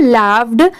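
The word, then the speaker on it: laughed: जी एच ई डी इसे हम क्या प्रोनाउंस करेंगे लाफ्ड अब जैसे देखिए इस वर्ड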